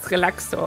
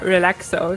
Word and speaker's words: Relaxo: That's Relaxo, or Relaxo, if you want to pronounce it English, in an English way.